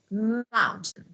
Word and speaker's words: mountain: Okay, T is really soft, but of course, I mountain. Mountain. I pronounce T clearly, but when I'm talking in conversation, drop it.